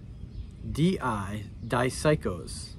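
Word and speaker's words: δίψυχος: The word in Greek is dipsychos. That's not exactly how you say it in Greek, but...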